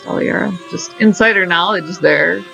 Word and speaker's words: Aliera: handle all your a-l-i-e-r-a bethesda did it they pronounce it elira which is the traditional swelling it's not it's pronounced dalaira just insider knowledge is there just so that